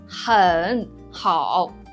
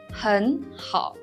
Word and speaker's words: 很好: But when you pronounce 很好, you don't pronounce as 很好. It's too slowly, right? So when you produce 很好, actually it becomes 很好 in real speech.